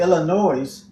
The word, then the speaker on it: Illinois: had to fly to Illinois no s on the end we don't pronounce that